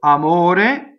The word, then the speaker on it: amore: So amore is closed, though. Single M.